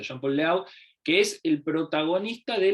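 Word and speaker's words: Jean-Pierre Léaud: le hablo le conoce se pronuncia Jean Paul laut que es el protagonista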